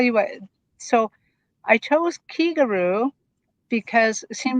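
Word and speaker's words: 気軽: pronounced Kigaru, Kigaru, Kigaru.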